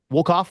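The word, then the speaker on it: Wolkoff: This is season 3, episode 3, entitled Shuttle to Confori, written by Onitra Johnson and Bill Waloff. Did I say his name right? Woff. Waloff. There you go.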